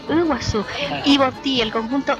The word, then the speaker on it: Iguazú: Lo de Umaguaré, y es Umaguaré, y por ejemplo dicen Iguazú, y yo Iguazú dicen, perdón, y yo le digo, no, es Iguazú, Ibotí, el conjunto Ibotí,